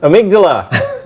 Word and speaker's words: amygdala: Amygdala. Thank you, Kennedy. I was going to let Andy usually corrects when I just phonetically read things off the teleprompter, but Kennedy's got me right there.